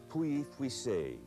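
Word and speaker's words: Pouilly-Fuissé: Probably the most often mispronounced names are French wine names. That's probably because there are just more of them. Here we have Puy-Fuissé, Puy-Fuissé.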